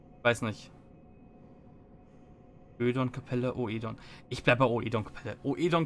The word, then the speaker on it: Oedon: Das ist so ein englisch ausgesprochenes Ö. Weiß nicht. Ödon-Kapelle, Oedon. Ich bleib bei Oedon-Kapelle. Oedon klingt besser als Ödon.